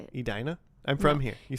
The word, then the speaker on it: Edina: the Cake Eaters, which are those people from Adina. Now you saying like that cuz that's how you say it. Edina.